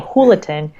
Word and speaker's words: Julaton: Like my team thought it was a way to have the announcer kind of remember that you want to pronounce the J as an H, Hurricane Jualton.